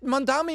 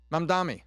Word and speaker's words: Mamdani: that Mamdani has vaporized, and now he's looking for even more.